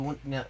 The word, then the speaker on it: 원: And indeed, n is pronounced won.